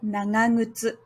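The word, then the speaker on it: 長靴: Firstly, this one. Like the previous word, it's not the first sound, so it should be nga. Secondly, this sound. It's the first sound in the non-first word in the compound, so it should be pronounced as ngu. So this word should be pronounced as nangangutsu.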